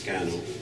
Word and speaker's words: Skä·noñh: great law Peace Center it looks more intimidating than it actually is just pronounced scandal in onondaga and it's a it